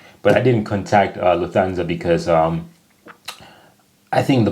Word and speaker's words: Lufthansa: flown with them before in English people usually say Lufthansa but in German we say Lufthansa so the emphasis on the first syllable Lufthansa versus Lufthansa that's kind of crazy